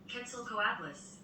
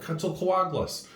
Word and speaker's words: Quetzalcoatlus: Quetzalcoatlus. There you go, Quetzalcoatlus.